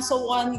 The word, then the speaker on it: Sowon: Bisa mereka ngomongnya sowon atau sowon kayak gitu ya. Jadi sebetulnya cara bacanya adalah so-won. So-won. Bukan so-won, tapi so-won. So-won.